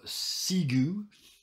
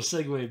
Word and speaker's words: segue: she gets back in that case we will seu because that's how it's you know if I pronounced it phonetically will segue just so everybody knows I know how to say the word we will segue back to Sid waiting for very T to